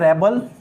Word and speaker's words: rebel: जैसे मैं आपसे कहूं REBEL, ठीक है, इसमें इसका प्रोनाउंसिएशन होता है रेबल और इसका प्रोनाउंसिएशन होता है रिबेल।